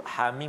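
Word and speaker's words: حم: Hamim kita baca ha 2 harakat, mim 6 harakat, mad lazim harfi mukhaffaf.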